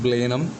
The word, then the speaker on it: Blenheim: It is pronounced Blenheim, the H is silent there.